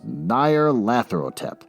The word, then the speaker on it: Nyarlathotep: I got to figure out how to pronounce Nyarlathotep. Can I pronounce it? H.P. Lovecraft with no, there's no pronunciations. All right, fine. Moving on. As far as I'm concerned, the official pronunciation of this creature is Nyarlathotep.